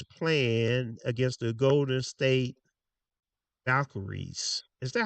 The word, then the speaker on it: Valkyries: And tonight we have the New York Liberty that is playing against the Golden State Valkyries. Is that how you pronounce it? Valkyries. Valkyries.